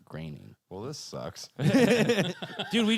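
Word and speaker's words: Groening: I thought it was groaning. No, that's how it's spelled but it's pronounced graining.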